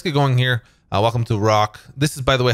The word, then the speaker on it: ROKH: going here welcome to rock this is by the way how I pronounce this I don't know if it's initials for anything but rock is how it's pronounced really acts as part